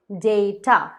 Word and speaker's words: data: अब इसका प्रोनाउंसिएशन क्या है? इसका प्रोनाउंसिएशन है डेटा, डेटा। प्लीज इसे डाटा मत पढ़िए, ये डाटा साइंस नहीं है, ये है डेटा साइंस, डेटा।